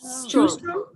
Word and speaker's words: Shoestrom: I don't know how to pronounce her last name. Shoestrom. Like shoe. Shoestrom. Okay.